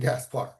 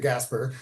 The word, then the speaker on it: Gaspar: Do wait, his first question is, "Is your name Gaspar?" You know, and he mispronounced it. He said, "Gasper," you know, but he's like, and I'm like, "Yes."